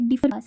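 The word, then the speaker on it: Diphu Pass: ये डिफर पास ऐसे करके इसका प्रोनाउंसिएशन है। तो इसको बोलते हैं डिफर पास।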